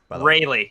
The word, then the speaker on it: Rayleigh: Rayleigh.